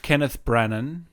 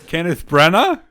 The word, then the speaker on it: Kenneth Branagh: But Great today is Artemis Fowl, Kenneth Branagh. Is that how you say it? Kenneth Branagh. Jesus. We are off to the races today. Kenneth Branagh?